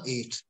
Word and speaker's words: ate: right that'll be eight it's pronounced as the number eight a t e is